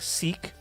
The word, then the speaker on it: Seq: sequence and sequence two pronounced like seek the first SE will sequence seek and seek to sure as short